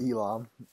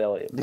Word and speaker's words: Elam: Is it pronounced Elam or Ellium? Elam. But we call it Ellium.